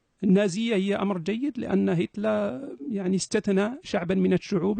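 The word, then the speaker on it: Hitler: ان ان اخبرتك ان هتله للاشاره فقط على الهامش هتل هكذا تنطق بالالمانيه مثل كارل زيمون بو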